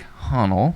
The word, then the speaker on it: Hahnl: brothers slash business owner his name is honnell yeah thank you very much thank you very much for pronouncing enunciating my last name of course what's